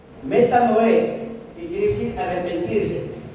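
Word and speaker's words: μετάνοια: reconoce el arrepentimiento y en griego se escribe y se pronuncia metan Noé metan Noé que quiere decir arrepentirse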